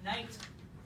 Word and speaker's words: knight: letters we don't say what's the first sound in knight the n sound what's the next sound